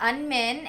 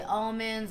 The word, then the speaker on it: Minh: My name is Minh, and if you guys can't pronounce that, you can call me Minnie. A lot of people always say almonds or amens or something like that.